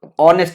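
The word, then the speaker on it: honest: ऑनेस्ट मैन बोले तो ऑनेस्ट में जो एच होता है वो साइलेंट होता है तो ऑनेस्ट आता है ऑनेस्ट जब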